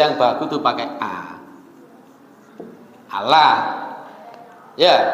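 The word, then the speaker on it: الله: itu lidahnya orang Jawa orang Arab itu membacanya bukan pakai O kita kan pakai O ya Iya mereka pun sebenarnya bacanya pakai a dalam bahasa dalam bahasa tajwid ini disebut dengan bacaan yang ditebalkan ditebalkan itu artinya lidahnya terangkat jadi sepertinya bunyinya pakai o padahal a kalau sampean mati pelan-pelan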